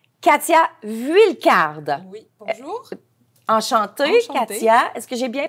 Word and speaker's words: Katia: Enchantée, Katia. Est-ce que j'ai bien prononcé?